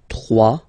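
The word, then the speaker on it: trois: Final S not pronounced. 3.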